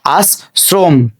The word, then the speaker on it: আশ্রম: এই অটা ও হয়ে যাবে, যার কারণে এখানে আমরা একটা ওকার যুক্ত করে দিব।